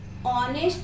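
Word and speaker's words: honest: ऑनेस्ट में शुरुआत किससे होती है? एच से होती है यहाँ पे भी, लेकिन प्रोनाउंस किससे होता है? ऑनेस्ट, ओ, ऑनेस्ट स्वर है, वॉवेल है, राइट।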